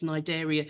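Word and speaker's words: Cnidaria: is nidaria so this even though it's spelled with a c the C is silent so it's nideria its pronunciation and um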